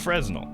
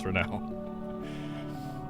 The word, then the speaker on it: Fresnel: I'm glad I actually knew how to pronounce the word Fresnel. Because it's not Fresnel. It's not. It's Fresnel. 9 of them are coastal,